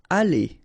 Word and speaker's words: aller: Aller, okay, R at the end, when you combine then you pronounce it E, aller.